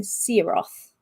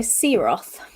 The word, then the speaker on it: Siroth: the dragon's name and I've been saying siroth correct ten points to me that is correct so there you go see Roth correct the sun is a